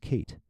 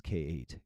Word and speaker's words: K8: Oh, is that how that's pronounced? Kate. Oh, that makes sense. K8. Kate.